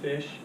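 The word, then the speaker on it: Phish: Does anybody know the band Fish? Spelled with a PH instead of an F.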